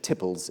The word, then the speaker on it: Theobalds: Now Theobalds is written Theobalds, but it was always pronounced chip Tibbles in the, in the 17th, 16th and 17th century.